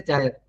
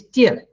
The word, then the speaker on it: tear: They will say tire. Okay, it is tear.